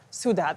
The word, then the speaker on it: Sudha: Sudha, thank you so much.